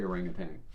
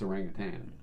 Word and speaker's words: orangutan: Although when you look at orangutan, the way it's spelled, there's no G on the end, but we say orangutan, don't we? Well, you do. It's orangutan.